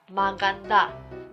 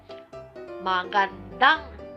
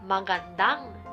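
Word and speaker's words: magandang: だから、発音はマガンダンになります。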